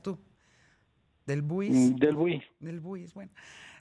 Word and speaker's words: Delbouis: del Bois, alcalde, lo pronuncié bien, ¿no? Es en francés, es un apellido de origen francés, del Bois, o ¿cómo lo pronuncias tú? Del Buis.